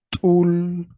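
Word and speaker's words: t'ul: Esta palabra se pronuncia tul, tul, tul y se traduce como conejo.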